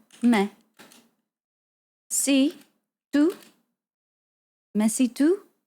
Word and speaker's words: mais: Okay, so now I know this. It's meh. Mais.